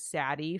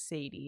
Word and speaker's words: Sadie: Can Chronicles child, whenever those came out, I pronounced her name as Saddie for the entire time I read it. And then my dad was like, "No, that name is Sadie."